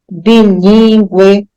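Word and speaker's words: bilíngue: mas nessas aí todas se você pronunciar você vai ver que o u Ele é pronunciado tá você pode até fazer aí agora o exercício perceber linguiça enxague Equino frequência linguística bilingue então nessas sílabas o u é pronunciado então mas eu não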